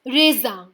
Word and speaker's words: raisin: We don't pronounce the end N at the end and we call it as raisin from the nose, which means grapes.